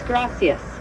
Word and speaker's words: gracias: It's gracias.